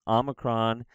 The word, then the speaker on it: omicron: size X KS sound Omicron is like an aw sound aw aw it's not an O it's an O sound